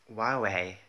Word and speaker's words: Huawei: Huawei. Yeah, I pronounced it right.